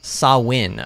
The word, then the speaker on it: Samhain: ancient celtic festival of samhain a gaelic word pronounced sawin oh okay a pagan religious celebration to welcome